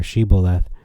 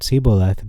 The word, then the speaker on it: Shibboleth: I'm gonna stop there they asked him say siboleth or shiboleth so why is it this important because whoever answered siboleth being unable to pronounce the letter of spika so if Jerome consulted